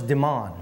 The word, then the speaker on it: Demon: And his name was Demon. Spelled like demon, sounds like omen.